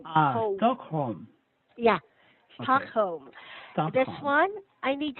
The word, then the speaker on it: Stockholm: This, we have a silent L on Stockholm. Stockholm. It's a place in Ah, Sweden, no L sound.